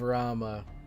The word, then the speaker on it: Rama: So, like, Rama, Ravana, Vamana, I've heard their names pronounced as Ram, Vaman, or Vaman, Ravan. So I just assumed that a lot of the characters in, like, Indian mythology and gods and stuff, you normally don't pronounce the A at the end.